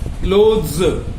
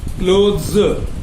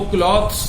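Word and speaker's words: clothes: क्लोथ्स, इनको क्लॉथ्स नहीं कहा जाएगा, क्लोथ्स। और वो होगा क्लॉथ जो कपड़ा होगा बिना सिला हुआ, दैट इज क्लॉथ।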